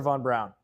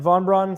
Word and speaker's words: von Braun: That's not my department, says Warner von Brown. It's not the German pronunciation, but you get the idea.